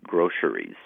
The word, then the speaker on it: groceries: or three syllables and you can pronounce it with an s in the middle or a sh like an sh sound in the middle now most language authorities